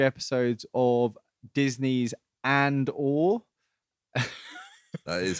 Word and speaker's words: Andor: We'll be talking about the first 3 episodes of Disney's Andor. That is how it's pronounced.